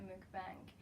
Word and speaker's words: mukbang: to be doing a MOOC bank and this is like how I pronounce it some people say funk but I think MOOC bank is the right way to say it but anyway I'm gonna